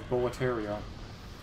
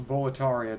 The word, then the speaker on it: Boletaria: never cease here when a boletaria or boletaria depending on the NPC I do actually find a little Charming how the pronunciation seems to be kind of inconsistent between buar and bataria based on who's talking it in a weird sort